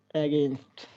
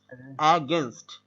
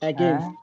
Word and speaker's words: against: অ্যাগেনস্ট কি হবে? অ্যাগেইনস্ট না, অ্যাগেনস্ট না, অ্যাগেনস্ট না, কি হবে? অ্যাগেনস্ট, অ্যাগেনস্ট against হ্যাঁ against নামটা অ্যাগেনস্ট